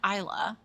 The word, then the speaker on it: Isla: Hoffman, who's played by Isla Fisher. Is it Isla or is it Isla? Well, it's Spanish. It's Isla.